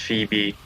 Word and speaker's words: Phoebe: It's pronounced Phoebe.